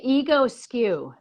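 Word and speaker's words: Egoscue: You could say ego skew.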